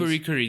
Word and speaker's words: FLCL: Furikuri.